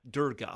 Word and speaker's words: Durga: I don't want to get her name wrong. Is it Durga? Durga, okay.